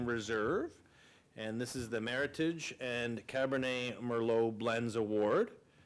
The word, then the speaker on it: Meritage: and this is the Meritage and Cabernet Merlot blends award pronunciation rhymes with heritage it's funny because that's I learned that right away it's it's it's Meritage okay Michael Pascoe your